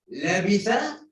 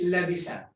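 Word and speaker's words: لبث: For example, labitha, you change labisa. It will totally change the meaning of the ayah.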